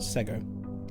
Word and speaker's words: Sego: Sego. Like Lego.